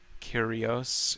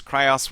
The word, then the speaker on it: curios: aren't very funny says curios curios cryos whatever man curios curios all right curios every time someone pronounces curios cryos it kills me a little it's a new tactic